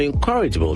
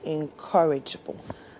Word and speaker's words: encourageable: My colleagues think I'm encouraable because I wear earrings to work as a man. encourageable. So those of you who say encourageable, you know the right pronunciation now. It is encourageable.